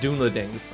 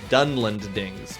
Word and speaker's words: Dunlendings: It's not Dunlendings. I was thinking Dunedain. It's Dunlendings because Dunland is the way it's pronounced.